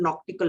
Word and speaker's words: knot: व्हाई इट is called nautical miles. Clear? From the word, अब ये एन के साथ है, अदरवाइज अगर हम देखें नॉट, KNOT, क्लियर, तो उसमें के साइलेंट होता है.